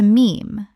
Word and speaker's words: meme: He took the Greek word mime, meaning something imitated, and shortened it to meme, to rhyme with gene.